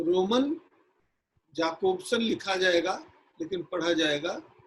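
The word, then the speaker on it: Jakobson: इसका प्रवर्तन किया एरिक जॉनसन याकोबसन, जिसका उच्चारण जो है याकोबसन किया जाता है। असल में फ्रेंच जर्मन भाषा में जो JO होता है वो या पढ़ा जाता है, जा को या पढ़ा जाता है।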